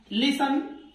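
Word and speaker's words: listen: लिसन इसमें T silent होता है।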